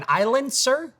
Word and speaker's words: iLencer: An iLencer? What is it? Oh, a silencer. Because the S is silent.